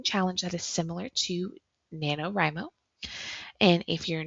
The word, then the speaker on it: NaNoWriMo: Now, if you're not familiar with what NaNoWriMo is, it is National Novel Writing Month. And I always mispronounce it. I always say NaNoWriMo, but it's NaNoWriMo.